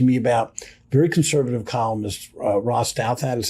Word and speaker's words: Ross Douthat: But it was fascinating to me about very conservative columnist Ross Douthat, is how you say his name.